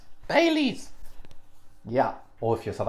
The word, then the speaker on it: Baileys: irish cream liqueur well it starts with the b and it rhymes with melees baileys yeah or if you're